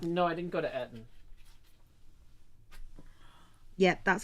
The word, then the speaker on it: Eton: No, I didn't go to Eton. Yeah, that's how that's pronounced.